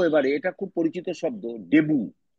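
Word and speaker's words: debut: ফরাসি শব্দ French word ডেবু টি এর উচ্চারণ সাইলেন্ট টি এর উচ্চারণ থাকবে না এটা সাইলেন্ট এটা ডেবুট নয় দেবু জয় একার বয়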